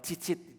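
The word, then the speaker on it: ציצית: Di dalam bahasa aslinya jumbai ini ee dibaca atau cara baca itu adalah cicit. Ditulisnya gitu ya.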